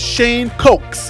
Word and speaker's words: Shane Cokes: The next defensive lineman that we got, I got in trouble for pronouncing this one like he was cooking in the kitchen as opposed to the drink. So that next defensive lineman, his name is Shane Cokes.